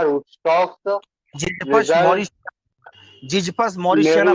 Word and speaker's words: mauritiana: Ziziphus meridiana rootstocks जिजपस result Morris, जिजपस मॉरिशियाना, pronounce सही करो। meridiana मॉरिशियाना, mauritiana हाँ Ziziphus मॉरिशियाना। mauritiana rootstocks results vigorous vigorous vigorous plants growth and high yield with section CV sign CV Umran.